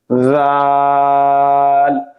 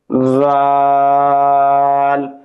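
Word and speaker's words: ذ: জিহ্বার আগা সামনের উপরের দুই দাঁতের আগা। জাল আমি আবার বলতেছি খেয়াল করেন এবং বলার চেষ্টা করেন। জাল দাল জাল র র হরফটি জিহ্বার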